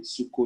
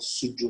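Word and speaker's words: Suzhou: I can hear the moderator saying Suko University. So my school is called Sujo University, or you call it Suda.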